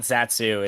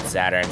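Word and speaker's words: Zaturn: some news apparently we've been pronouncing as Saturn's name wrong uh it is Saturn and not zatsu it's a little bit confusing having the W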